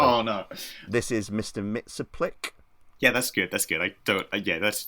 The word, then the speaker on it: Mxyzptlk: and please God help me, Johnny, am I pronouncing this correctly? Oh no, this is Mr. Mxyzptlk.